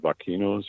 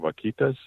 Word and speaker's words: vaquitas: on with the, I can't say the word, vaquinos or whatever those dolphins are up there. It's amazing right now, too. It's a sad story. The vaquinos? The I'm saying it wrong. Vaquitas, those little dolphins.